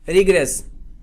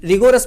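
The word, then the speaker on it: rigorous: सख्त, प्रचंड, भीषण या स्ट्रॉन्ग या रिग्रेस। अच्छा, कुछ लोग रिगोरस भी बोलते हैं, तो सही प्रोनाउंसिएशन क्या है? रिग्रेस।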